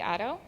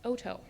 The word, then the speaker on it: Otto: actually pronounced Joel wheeler Otto I'm not sure that even Kelly knows your last name is pronounced Oto jarus Houston I don't